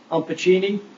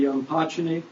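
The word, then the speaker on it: Umpachene: You probably heard it pronounced Umpachini, but a more correct pronunciation would be Umpachini.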